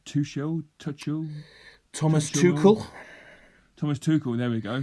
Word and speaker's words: Tuchel: Tuchel.